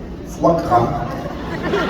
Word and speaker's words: foie gras: Foie gras. It's French.